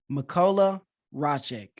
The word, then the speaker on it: Mikolaj Raszek: Mikolaj Raszek. Thank you for having me. Yeah. And yes, you pronounced the name correctly.